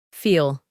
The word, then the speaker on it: feel: En presente, usamos la misma forma que el infinitivo feel, que se pronuncia con un sonido largo de la letra E, feel.